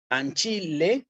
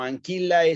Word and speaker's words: ancillae: igual que sue, suae, que lo voy a pronunciar en latín eclesiástico como una E. ¿Sí? Ancille sue. ¿Sí? Sue. Esto en latín clásico lo pronunciaría como anquillae suae.